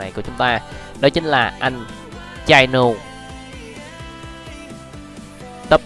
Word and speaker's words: Chino: Chino hay không, đọc là Chino.